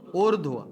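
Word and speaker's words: ऊर्ध्व: उर्ध्व। अब देखो आप इसका उच्चारण कैसे कर रहे हो?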